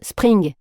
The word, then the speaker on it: Spring: Mais si je prenais mon courage à deux mains, pour simplifier, je disais « ça se prononce spring », comme le printemps en anglais.